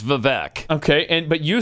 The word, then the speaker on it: Vivek: all right and uh they were told Vivek like cake okay nobody except them and I've a few times when I venture out there on that limb uh nobody pronounces it like that everybody says vivec okay and but you